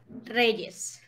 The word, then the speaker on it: Reyes: Reyes.